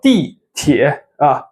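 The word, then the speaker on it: 地铁: 坐地铁 fourth tone, third tone, okay?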